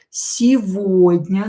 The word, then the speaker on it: Сегодня: Сегодня, this G is pronounced as V here in this word. Сегодня, don't forget about E, which is not stressed, so pronounce it as E.